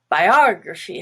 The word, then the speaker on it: biography: become a little different like biography has the stress on ah and the rest is schwa except for the y at